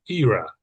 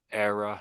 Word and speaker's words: era: Era. Yeah. That's That's what the Brits say. I think the Americans say it the other way. So era and era.